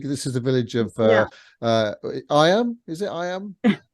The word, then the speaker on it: Eyam: This is the village of Eyam. Is it Eyam? Eyam. Eyam. So it's kind of, although it's spelled Eyam, but it's actually pronounced more like double E-M.